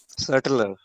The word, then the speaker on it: subtler: हाँ, हाँ, तो इसमें बी साइलेंट है, टी प्रोनाउंस हो रहा है। अच्छा, सेटलर।